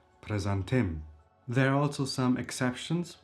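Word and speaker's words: prezantim: If you want to introduce yourself, introduction, presentation is called presantim. Presentim, it's a masculine noun and the last syllable is stressed. Presantim.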